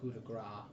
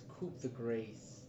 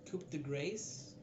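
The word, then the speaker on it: coup de grâce: Um I think it's not pronounced cudra. It's okay. It's coup the grace. Coup grace. Coup grace.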